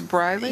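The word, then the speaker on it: Briley: you sayell your name it's briy yeah it's b r i l e y and they spelled it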